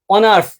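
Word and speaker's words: honours: কারণ এইচ এর উচ্চারণ অ এবং আ হয়ে গেছে। কারণ অ এবং আ হয়ে গেছে। যেরকম আওয়ার, অনেস্ট, অনার্স, এগুলা কি?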